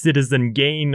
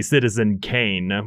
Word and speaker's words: Citizen Kane: I'm sorry if you were expecting the next citizen gain or dark night sorry Citizen Kane why do I keep mispronouncing it the what were you expecting it's